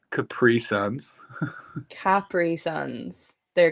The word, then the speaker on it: Capri Sun: How did you pronounce Capri Suns? Capri Suns. They're Capri Suns. That is how I'm like, I'll die on this hill. It's pronounced Capri Sun. It's the commercial.